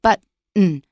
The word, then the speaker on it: button: If there's a T, schwa, N kind of syllable with no stress, we will usually pronounce it So button is the usual way we pronounce it.